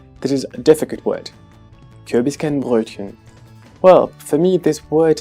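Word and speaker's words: Kürbiskernbrötchen: So this word should be pronounced as Kürbiskenbrötchen or as Kürbiskenbrötchen. What's difficult in this word? Well, we have two vowels that could seem similar for English speakers. The first vowel in the first syllable, U, and also the vowel Ö. Kürbiskenbrötchen. Kürbiskenbrötchen. And as a consonant we have the combination represented by the letter T and CH.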